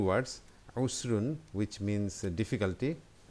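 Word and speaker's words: عسر: So let's see these 2 words, usrun, which means difficulty. You can say ausrun because it starts with ain, which is a difficult word to pronounce, and yusrun, which means easy.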